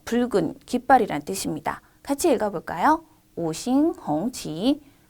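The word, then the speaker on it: 五星红旗: 오싱홍치, 오싱홍치라고 읽습니다.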